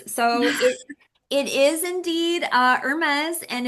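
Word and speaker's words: Hermès: One Hermes.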